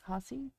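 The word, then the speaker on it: Hause: Haase? Haase? Okay. If you take the H away and put a P there, it's pause.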